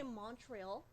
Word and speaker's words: Montreuil: I always want to say Montreuil. Yeah, it's French. Montreal. Yeah, It is, isn't it? Yeah. Thank you. I said it right.